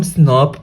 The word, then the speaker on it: snRNP: एंड इसको हम pronounce करते हैं, जैसे SNRNP है तो इसको हम स्नर्प प्रोनाउंस करते हैं, स्नर्प बोलते हैं इसको, U1 स्नर्प, U2 स्नर्प, ऐसे।